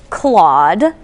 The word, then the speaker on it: Clawde: His name is Claude, after the restaurant's mascot. Of course, it's spelled C-L-A-W-D-E. Good pun there.